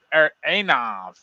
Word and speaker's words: Anav: or Inav, or no, Anav. How do we spell that? Anav. Anav. Ash. It's the Greek letter that I don't. Letter called Ash. Okay. It sounds like the A in father.